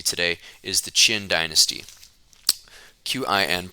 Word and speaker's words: Qin: Qin, pronounced Qin.